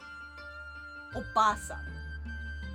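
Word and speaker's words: おばさん: Aunt would be not oji-san. It would be oba-san. Oba-san. And then oba-san with a long A is grandma. Oji-san with a long E is grandpa.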